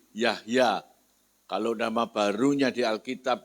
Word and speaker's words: Jahja: adalah ejaan lama ya orang panggil saya Jahja ya padahal yang dibacanya ye Yahya kalau nama barunya di